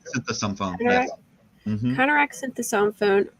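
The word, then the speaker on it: Konerak Sinthasomphone: A teenager named Konarak Synthesomphone. Am I saying that right? Synthesomphone.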